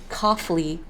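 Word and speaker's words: Cofly: soda your Rebellion coughly c-o-f-l-y is pronounced as coffee with an L but even you read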